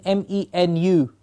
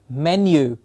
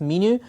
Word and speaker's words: menu: There are also combined words, combined vowel sounds like U as in M-E-N-U, menu. We've heard it many times pronounced menu.